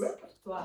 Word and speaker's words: repertoire: It is repertoire. We use the word repertoire and we use the French pronunciation repertoire for reperto or